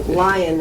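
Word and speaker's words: Lyon: was an identity so Lion of course means powerful and and up top on top there right well yeah it conjures that up even though it's spelled l yo n um and that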